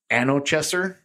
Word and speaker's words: Anochecer: So the current pre-orders that you have right now is the, see if I can pronounce this one right here, Anochecer, A-N-O-C-H-E-C-E-R.